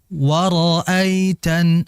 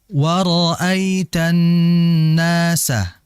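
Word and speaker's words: وَرَأَيْتَ: Kalau ada ayat didahului oleh huruf wau monyong dulu. Waroaitan agar mudah. Waroitan. seperti itu. Nah, hati-hati ketika mengucap huruf ro jangan dibaca monyong.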